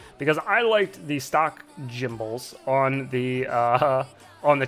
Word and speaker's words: gimbal: material um it's pronounced gimbal i'm pretty sure it's got a lot more uh i know it's pronounced gimbal but it's funnier when she says jimble um i think uh